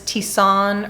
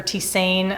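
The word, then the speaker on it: tisane: about from tender flower is tissan or tisain i'm never too sure how to pronounce this word but i think it's tisan and basically what a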